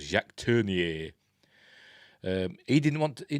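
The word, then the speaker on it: Jacques Tourneur: apparently it turned it how they pronounce It in America they just called him jack turned but he's a Frenchman called Jack turnier um he didn't want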